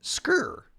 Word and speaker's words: skyr: cheese alternative called scir skier SK k i r but you have to hit it with that Scandinavian pronunciation scre yeah get those healthy